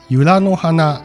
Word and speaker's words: 由良岬: り、この由良岬と書いて由良の花と読む場所は愛